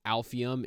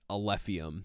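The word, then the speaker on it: Alephium: completely butchered the name it's not alphium it's a lithium so I just wanted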